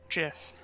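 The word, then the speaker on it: GIF: it's pronounced Jiff.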